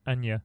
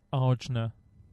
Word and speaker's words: Arjuna: I was I called I thought it was Anja. Right. I thought it was Anya. Yeah, I just didn't read Yeah, it. I thought Anya. it was Anya Polish or Say something. that again. Arjuna.